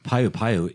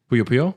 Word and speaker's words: Puyo Puyo: Payu Payu is in the game as a mini game though. Puyo Puyo? Puyo. I never pronounce it I'm right, like, is there but, another one?